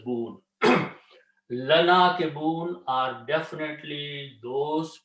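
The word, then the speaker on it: ناكبون: But when you read them together, it's a lana kibun. And when you stop, you don't say buna, but you say boon.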